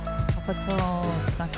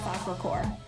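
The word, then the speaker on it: Sacré-Cœur: Capital Sacre, I don't know how to say it. Hospital Sacre-Cœur.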